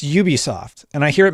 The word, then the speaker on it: Ubisoft: for today Ubisoft it's Ubisoft and I hear it mispronounced all the time it's from the word ubiquitous and one of the